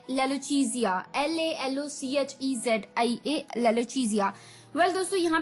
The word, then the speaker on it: lalochezia: ठीक है दोस्तों, तो चलिए द 12th word for the evening is, ये थोड़ा सा अटपटा है वर्ड पर अच्छा है, लेलोचीजिया। लेलोचीजिया, जी हाँ दोस्तों, अटपटा सा कहा मैंने, लेलोचीजिया,